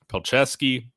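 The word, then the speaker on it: Palczewski: proven depth I think peski that's how you pronounce his name I always screw it up or Frank crumb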